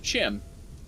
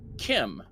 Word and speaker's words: Chim: Hey, Lady Nerevar on Twitter was talking about the pronunciation of Chim, and she said it's actually actually to be Kim, like chimera.